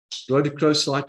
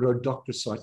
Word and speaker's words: rhodochrosite: collectors and museum curators, is rhodochrosite or rhodochrosite, depending on how you want to pronounce it.